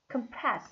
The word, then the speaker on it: compress: compress compress 했어요. 무엇을 누르다 compress. 자, 여기 강세가 compress에서 여기 강세죠. 두 번째 stress compress the visual nerves in your brain.